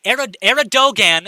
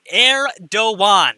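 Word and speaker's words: Erdoğan: one in a while eredogan is pronounced heir do one erdogan okay i'm gonna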